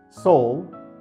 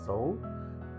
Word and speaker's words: Sowell: Sowell, pronounced S-O-U-L, Sowell, didn't publish his first book until he was 42 years old in 1972.